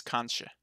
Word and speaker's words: kanskje: Oh, yeah, because suppe, that uses the KJ, and that's the sh, kanskje. Okay. Alright, I think I can remember it now. Ja, kanskje.